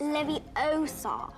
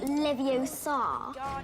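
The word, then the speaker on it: Leviosa: take someone's eye out you're saying it wrong it's Levi Oar not Levi Oar you do it then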